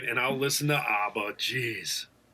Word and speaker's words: ABBA: And I'll listen to Abba. Geez. Yeah. All right. I You have to pronounce it like a Midwesterner.